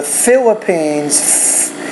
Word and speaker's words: Philippines: And then in the Philippines, so the Philippines, that PH is actually an F, and you have to pronounce that with a little bit more air coming through with your lips and your teeth coming together.